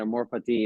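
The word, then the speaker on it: amor fati: or F oh yeah that's how you say it amore fatti it's a it's actually Latin you know but I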